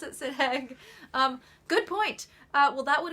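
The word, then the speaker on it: Sidheag: I pronounce it Sidhag.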